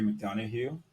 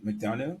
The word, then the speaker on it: McDonough: So this is McDonough, or McDonough. Is that how you say it? McDonough.